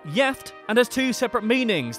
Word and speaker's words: gift: One Swedish word that is spelled the same as the English is gift, but is pronounced jeft and has two separate meanings, the first of which means married.